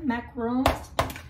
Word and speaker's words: macarons: I'm wanting to learn to make a pavlova or meringue, cookies even, macarons. I think is how the French pronounce them, macarons.